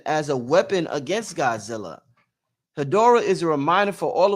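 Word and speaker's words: Hedorah: Horra uses is how do you say that word? Her hier it could be Horra. It could be Hadora. Hadora.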